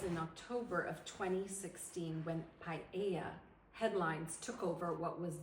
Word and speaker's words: paella: Let's break it down phonetically. So it's paella. However, most English speakers, I think, have a hard time because we pronounce all the vocals. So it's like paella. Yes, So sometimes they'll say paella yes, because it's hard. The A and the E are both so open.